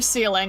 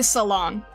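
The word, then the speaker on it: Saileach: I was not calling her ceiling. I was calling her son. But okay, it's supposed to be salon.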